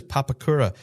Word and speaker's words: Papakura: Yeah, I actually watched back at the live stream this morning to make sure I got the pronunciation of that correct. So it is Papakura in third place.